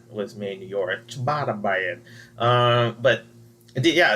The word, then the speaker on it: ciabatta: I was like, how do you say this? Chaba. Oh yeah, you ciabatta. Said just like that.